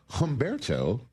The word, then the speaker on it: Humberto: Is the H silent in your first name, or did I pronounce it correctly? It's mainly Latin. It's like Humberto.